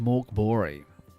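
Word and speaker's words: Mörk Borg: It is spelt Mork Borg, but I have it on good authority. It's pronounced Mork Bori.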